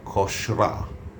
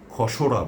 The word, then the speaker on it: খসড়া: এর সঠিক উচ্চারণ হচ্ছে খসরা। এর সঠিক উচ্চারণ খসরা। আমরা কখনোই খসরা বলবো না। তাহলে ভুল হবে।